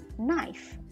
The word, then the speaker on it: knife: Ketika K ketemu dengan N dalam bahasa Inggris, maka letter K-nya itu silent atau dihilangkan, tidak dibunyikan. Jadi bacanya knife, a knife, bukan a knife.